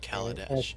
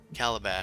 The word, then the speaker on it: Kaladesh: you tie a fairly good knot around Kaladesh. okay. That seems Now I'm fairly doing good. it. Calabash. Calabash. Shane's deliberately mispronouncing it like a magic set.